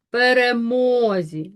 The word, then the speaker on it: перемозі: Отже, ставимо наголос перемозі на третій склад. Тобто перший і другий є ненаголошеними.